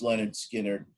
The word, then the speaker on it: Lynyrd Skynyrd: their self-titled first album pronounced leonard skinner it's a song that